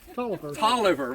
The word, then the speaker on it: Taliaferro: I don't, you know, you get into Hovey, Taliaferro. Is what? Tolliver. How do you get Tolliver out of Taliaferro?